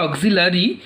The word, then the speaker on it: auxiliary: দেখো অক্সিলারি verb, দেখো স্পেলিংটা একটু দেখে নিও, অক্সিলারি কিন্তু নয়, হ্যাঁ উচ্চারণটা অক্সিলারি, কিন্তু এই আয়ের প্রোনাউন্সিয়েশন নেই যদিও, তবুও কিন্তু এই স্পেলিংটা করার সময় কিন্তু আইটা বসানো জরুরি, হ্যাঁ এটা ভালো করে একটু দেখে নিও।